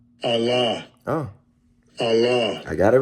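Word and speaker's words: אָלָה: be H 423 strongs h42 3 Allah oh Allah I got it right I got it right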